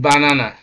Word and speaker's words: banana: Then banana, banana, all right, banana. You take note, it's not banana, it's not banana, it's banana.